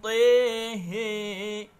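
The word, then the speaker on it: طه: Yang ketiga, Imam Hamzah membaca kalimat Taha dengan mengimalahkan huruf ta dan huruf ha-nya, dan juga membacanya dengan imalah kubro. Bismillahirrahmanirrahim. Tehe.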